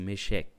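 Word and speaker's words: מֶשֶׁךְ: Só uma curiosidade, irmão, a palavra meseque ela ela vem do hebraico, que é o hebraico eh mecheque, né? Se pronuncia assim, mecheque.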